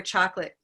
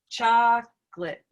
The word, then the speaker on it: chocolate: into crossbar eye that sounds like a silvery schwa instead i just look at a cup of mustard and we notice that it sits right on silver so here's here's where chocolate goes chocolate right chocolate so it's still reduced it's not chocolate chocolate right good other questions